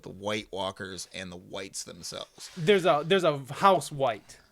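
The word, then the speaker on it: wights: And that's spelled W-I-G-H-T-S, by the way. Is that how it's spelled? Yes, it's white. A white is a zombie, basically. Not to be confused with the White Walkers, which are spelled W-H-I-T-E.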